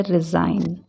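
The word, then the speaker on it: resign: क्या बोलते हैं consignor रिजाइन आर ई एस आई जी एन लिखने में जी आएगा लेकिन हम इसको बोलेंगे कैसे रिजाइन डिजाइन डी ई एस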